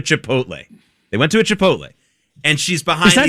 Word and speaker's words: Chipotle: They went to a Chipotle and she's behind Is that how you pronounce it, by the way? Yes. not chipotal.